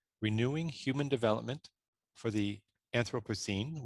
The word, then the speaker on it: Anthropocene: human development for the anthropocene which can also be pronounced anthropocene both are fine acting for change in